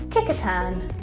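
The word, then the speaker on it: Kecoughtan: those glasses back on this is actually pronounced kickatan oh we both got that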